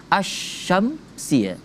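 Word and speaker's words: الشمسية: Sedangkan asy-syamsiyah itu sebenarnya al syamsia. Cuman digabung langsung A-nya sama huruf sya-nya. La-nya, lamnya tak dibaca. Jadi asyamsia.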